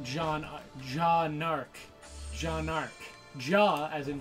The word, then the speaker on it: Jaune Arc: is actually John Ark what Jean Ark is pronounced jaune jaune arc jaune arc JA as in je aw and